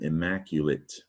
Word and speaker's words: immaculate: And the trick to this word is that you actually says you, immaculate. And I like to remember that the letter U, I like to remember when you says you say immaculate. And that you says you because of Latin.